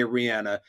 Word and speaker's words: Rihanna: find the clip and it's clear as day Rihanna I go now to the master linguist who has the easiest name to pronounce in maybe in the history of mankind